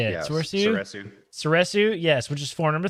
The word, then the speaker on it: Soresu: Soresu, yes, which is form number 3.